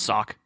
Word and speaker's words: SoC: And I believe it's pronounced sock.